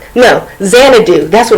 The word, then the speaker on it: Xanadu: It's called I can't pronounce it. It's Xandu. No, Xanadu.